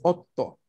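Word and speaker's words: 夫: Primero pronunciamos ot, mini pausa y luego to.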